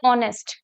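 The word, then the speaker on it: honest: आ रहा है, जैसे ऑनेस्ट। ऑनेस्ट क्या है, कॉन्सोनेंट है यहाँ पे एच, लेकिन एच तो साइलेंट है, एच क्या है, साइलेंट है, क्या बनाइए, ऑनेस्ट, ओ, ऑनेस्ट।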